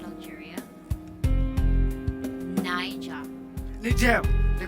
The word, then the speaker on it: Niger: Niger, the correct pronunciation, but you correct.